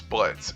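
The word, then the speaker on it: Blitzø: A part of the company is their receptionist Luna, married couple Moxie and Millie, and their clinically insane boss Blitz, and yes, the O is silent.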